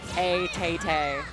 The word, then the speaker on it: ATAT: The Buzz did just lose a subscriber, and that subscriber was ATATA. That's not how you pronounce it. That's nothing. If a tat is feeling a little sassy, then ATATA is perfect.